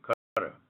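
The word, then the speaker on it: Qatar: this is important yes cter is the pronunciation cutter the insect propellant okay you've named three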